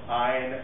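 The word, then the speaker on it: Ayn: So it's goodbye conservative philosophy, which isn't really philosophy, it's just greed, dressed up with a name like, you know, Ein rhymes with swine, Rand.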